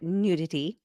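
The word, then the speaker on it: Nu Titty: the company new titty Nu TI TT y you can also pronounce it nudity so I think it's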